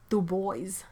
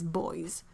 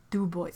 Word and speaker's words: Dubois: a bad time to argue for the pronunciation of Dubois as boys Dubois ah that's so bad oh my god it's so bad that's like terrifyingly bad